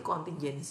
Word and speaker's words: contingency: pemulihan atau kontingensi plan bacanya itu kontingeny plan ada bahasa Indonesianya ditranslate kon pakai j tulisannya kontingeny plan oke eh kontrol pemulihan